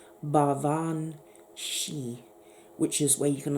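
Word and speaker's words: baobhan sìth: ban Seth but it's actually Gaelic and it's pronounced bar Vaughn she which is where you can understand where you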